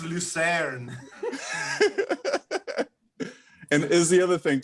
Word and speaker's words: Lucerne: It's pronounced Lucerne.